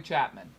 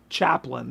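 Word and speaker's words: Chaplin: No, that's Charlie Chapman. It's Chaplain, not Chap. That's what I said. Charlie Chaplan. You said Chapman. No, I didn't. It's Chaplain.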